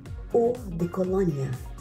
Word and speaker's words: eau de Cologne: They pronounce it Eau de Cologne.